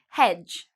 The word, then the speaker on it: hedge: Hedge, again, you see D and G together. We don't pronounce the D.